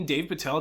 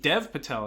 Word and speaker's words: Dev Patel: this and tell me Dave Patel doesn't deserve Dev Patel, excuse me, I keep pronouncing his name wrong.